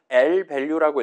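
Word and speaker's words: lvalue: 그래서 일단은요 친구 발음할 때는 읽을 때는 L밸류라고 읽으시면 돼요. 밸류에다가 왼쪽에 L을 붙인 겁니다. 그래서 막 valu 막 이런 식으로 읽는게 아니라음 적당히 영어로 읽어 주시면 좋을 거 같고 그다음에요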